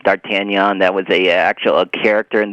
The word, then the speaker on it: D'Artagnan: Yeah, okay, I'll start off with your pronunciation of D'Artagnan. It's not D'Artigan, it's D'Artagnan.